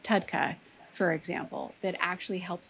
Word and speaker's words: TUDCA: lot of great products on the market like Tudca for example that actually helps to open up drainage. It helps to get the bile moving in the body. spell that? It's T U D C A.